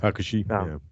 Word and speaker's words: Hakushi: Yeah, Hakushi.